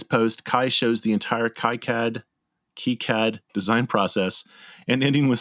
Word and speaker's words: KiCad: It's like, plus it's complicated for me because like, oh wait, it's not pronounced KiCad, it's pronounced KiCad.